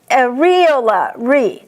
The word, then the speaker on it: areola: And regardless of what you hear, the correct pronunciation for this next word is areola.